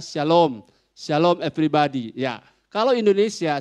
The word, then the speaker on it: Shalom: ya saya jawab ya kalau SH Shalom sama saja dengan asylums hanya Kalau saudara menulis teksnya bahasa Inggris Maka sudah harus pakai SH tetap bacanya Syalom Syalom Everybody ya kalau